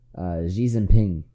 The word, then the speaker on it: Xi Jinping: I pronounced that pretty close. Xi Jinping.